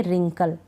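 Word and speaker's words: wrinkle: ना रिंग इसको पढ़ेंगे रिंकल डब्लू आर से शुरू हो रहा है डब्लू का उच्चारण नहीं होगा डब्लू आर से शुरू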